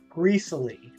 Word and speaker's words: Greasily: a region called greasily greasily as in rhyming with Sicily okay so gristly I